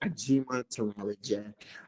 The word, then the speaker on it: Ajimatanrareje: my super long last name it's uh i pronounced a g monteroli um i'm nigerian american which is great um